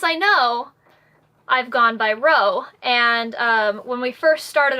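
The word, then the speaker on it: Roe: And to clarify, it is spelled R-O-E. I know a lot of people get that wrong, and that's okay, because it sounds the same, but yeah.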